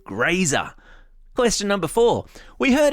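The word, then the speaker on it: Grazer: give you a hint her name has something to do with eating and rhymes with laser yeah that's right her name is graer question number four we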